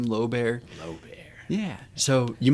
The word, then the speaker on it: Lobear: educated and sort of illiterate he spelled and pronounced his last name low bear l o b e a r which is